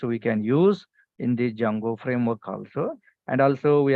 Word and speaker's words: Django: the important framework is Jango framework what is the framework name Jango framework so here D is silent guys d a silent so